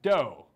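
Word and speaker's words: Dou: Dow is Dow is pronounced doe like a female deer thanks Eric that's that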